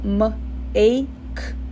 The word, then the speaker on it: make: Make, make, make também é a mesma coisa, o E fica mudo, make, tá?